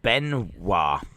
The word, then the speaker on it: Benoit: Benoit is pronounced Benoit. Benoit. Is it? Oh, I thought it was Benoit. Ryan Benoit.